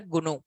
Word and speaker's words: GNU: is the company name pronounce it as the gunu gnu pronounce this as gunu gunu companies C compiler like this in the